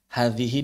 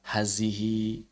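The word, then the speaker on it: هذه: Hadhihi dibaca hazihi.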